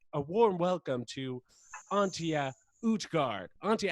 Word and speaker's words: Utgaard: Utgaard is the last name though. Utgaard, not Utgaard. But it's okay.